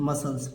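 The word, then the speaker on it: muscles: प्रकार देखिए एम यू एस सी एल एस मसल्स मसल्स माने मांसपेशी हो जाएगा और देखिए बच्चों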